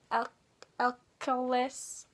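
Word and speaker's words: Elkeles: one I got was Perfect Chemistry by Simone Alis that's how you say it it's a love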